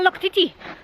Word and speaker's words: Loctite: and immediately said, "Ah, Loctiti." So Loctiti, because of course all of the vowels are pronounced.